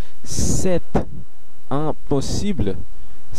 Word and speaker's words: c'est impossible: এটির উচ্চারণ হলো c'est impossible, c'est impossible, c'est impossible, c'est impossible। আপনি নিশ্চয়ই খেয়াল করলেন আমি সেট এটির শেষে তেটি উচ্চারণ করলাম কারণ ই, ফরাসির ই একটি ভাওয়েল, আর পসিবল আর এই